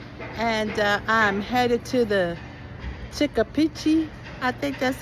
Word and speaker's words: Chipichape: It's actually pronounced Chipichape.